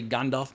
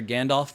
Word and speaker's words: Gandalf: My accent, I know you're supposed to say Gandalf because I've seen Christopher Lee talking about the correct pronunciation of J.R.R. Tolkien. But when you've been calling a character Gandalf for decades, it's very hard to say Gandalf every time.